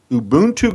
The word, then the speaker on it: Ubuntu: to pronounce it for Me ubon 2 Global Ubuntu Global now I'm going to spell it because you'll never get it U Buu